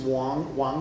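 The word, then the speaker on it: 王: Now in Mandarin they're pronounced differently. One of them is Wang, and one of them is Huang. But in Cantonese and in Toisan dialect they are homonyms. They're both Wang.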